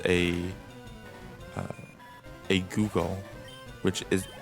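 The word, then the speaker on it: googol: there's a number called a uh a google which is it's not spelled like as google like the search engine it's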